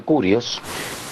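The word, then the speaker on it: κύριος: es curios curios Ah se lee quirios pero se pronuncia curios que significa señor dueño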